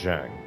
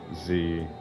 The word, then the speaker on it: Zhang: But I think it's pronounced Zhang. But it's spelled Zhang.